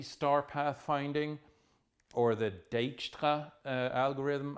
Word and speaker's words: Dijkstra: path finding or the deta algorithm I think that's a Dutch name so it's polish pronounced Dijkstra doesn't matter you'll still